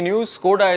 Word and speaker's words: Škoda: scored has not done yet I said Skoda Skoda that's the right pronunciation recently they also introduced the character name